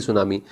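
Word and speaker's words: tsunami: जाएंगे, earthquake, volcano, T सुनामी, वैसे टी सुनामी है, ये टी तो साइलेंट है, सुनामी।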